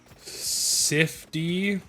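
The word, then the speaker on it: Sifd: yeah um dex uh sifty i think is how he pronounces his name it's s-i-f-d he's also much better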